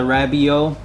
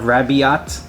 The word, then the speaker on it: Rabiot: want to call it i call it the rabio i'm going with the silent t at the end instead of raviott uh and this one